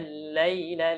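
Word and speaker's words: الليل: Waja'alna al-laila libasa. Waja'alna al-laila, laila lembut bacanya.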